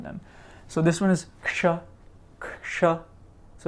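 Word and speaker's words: क्ष: So it's like a k sound with so it's like this k right here, right? Plus that sh sound we just made. That's one of the sibilants we just made a while ago, right? So this is a k and a sh. So you're putting them together and you're making a ksha.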